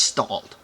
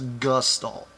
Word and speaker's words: gestalt: Not just stalled for you morons out there that don't know how to say it. It's gustalt.